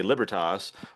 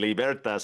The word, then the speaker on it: Libertas: He said, "Well, Latin is a dead language, so there's kind of the Germanic English root where you would say libertas, Yeah. or there's like the romantic, Italian libertas."